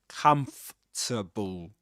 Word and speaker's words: comfortable: That's the way you pronounce this word in this accent.